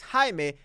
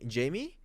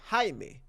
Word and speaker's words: Jaime: beautiful girl you know Jaime comes to introduced to her and he says oh my name is Jaime and she says like Jamie no Jaime Jaime right okay Jamie go